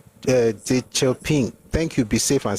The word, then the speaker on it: Deng Xiaoping: His name is pronunciation on you, not Shanumi. There's a D somewhere there. There's a chi somewhere there. Anyway, he was saying that what would he have been? God bless you, Deng Xiaoping.